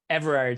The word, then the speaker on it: Everard: is how do you say your last name everard so that's e-vee or a or D Pilates